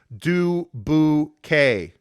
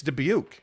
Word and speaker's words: Dubuque: story keith carl says people get pissed when outsiders make fun and pronounce it as do boo k wait people really pronounce it though it's dubuque bro like i mean any